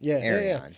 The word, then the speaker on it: Erion: Wait, so how do you pronounce your name? Erion? Erion. Erion. Yeah, I don't have Three syllables I think.